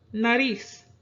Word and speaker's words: nariz: We have nariz. Nariz is stressed on the nariz syllable, following the natural stress rules, so no written accent is needed.